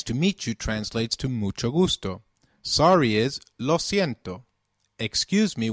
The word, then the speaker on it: mucho gusto: benido orena nice to meet you translates to Mucho Gusto sorry is loo excuse me when begging pardon